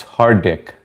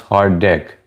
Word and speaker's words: Hardik: Pterodactyl, it's hard dick. I know it sounds bad, but it's HARDIK. It's pronounced hard dick.